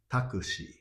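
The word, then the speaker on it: タクシー: Taxi is in Japanese pronounced as Takushi.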